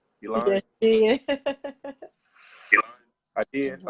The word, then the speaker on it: Elan: Elan.